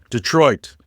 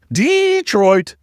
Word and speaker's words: Detroit: Detroit, not Dee-troit. Squish it together, make it lazy, make it sound like you've been saying it your whole life while drinking Vernors and calling it pop.